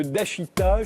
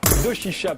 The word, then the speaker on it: Doshisha: Attaché à l'université de Dashita, je l'ai bien prononcé. Doshisha, pardon, à Kyoto, au Japon.